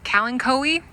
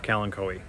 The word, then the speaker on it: Kalanchoe: I think it's Kalanchoe. People call it everything. Kalanchoe is how I pronounce it.